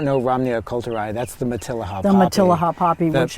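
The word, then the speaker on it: Matilija: Matilaha, yeah.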